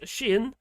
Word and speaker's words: Xi'an: I learned it was called pronounced Xi'an from the Channel 4 documentary.